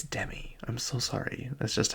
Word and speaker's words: Demi: Like I think Demi Moore is that's how you say her name, but then it's Demi Lovato. I'm like, why can't it just be Demi? Because that's how it's spelled.